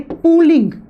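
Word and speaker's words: Pauling: तो उसके लिए साइंटिस्ट आए थे पुलिंग। इसको हिंदी में पुलिंग या पलिंग आप प्रोनाउंस कर सकते हो।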